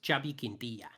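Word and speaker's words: Xavi Quintillà: "Who's that bumptious Scottish guy that keeps correcting pronunciations?" It's this guy. The Monopoly guy, and it's Xavi Quintilla.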